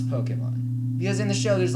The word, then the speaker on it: Pokémon: Now, for a little bit of context, I have not been into Pokemon since I was in elementary school, and, well, now I'm a teenager.